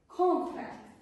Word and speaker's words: contract: The stress is put on the first syllable. Con- contract, yes?